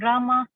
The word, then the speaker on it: Rama: The word Hare pronounced Hare, Krishna pronounced Krishna, and Rama rhymes with drama.